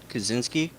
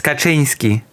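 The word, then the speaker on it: Kaczynski: Ted Kazinski. And now you're back to pronouncing it incorrectly. It's Kachinski. Oh, Ted Kachinsky.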